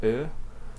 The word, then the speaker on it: ö: The O with two dots, that's pronounced Ö.